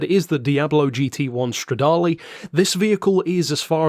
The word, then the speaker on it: Stradale: featuring the Lamborghini Diablo GT one Stradale or as some of our more cultured members of the discord chat would probably call it the Lamborghini Diablo GT 1 straddle because if that's their way is spelled that must be the way you say it if you know you